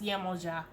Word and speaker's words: Yemoja: Okay, I pronounce Yemoja, but I hear a lot of people say Yemaya.